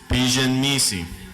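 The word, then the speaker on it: ⲡⲓϫⲓⲛⲙⲓⲥⲓ: Like we've learned, this looks like a pi. It's pronounced like a P. This is an I. This looks like a sideways J, so we pronounce it as a J. This is an I. This looks like an N, so it's pronounced N. This is an M. This is an I, C, I. So the first word is Pigeon Misi.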